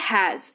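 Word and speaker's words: has: पर काम आता है हैज एच ए एस उच्चारण इसका हैज होता है ज लास्ट में उच्चारण होता है और इसका मतलब भी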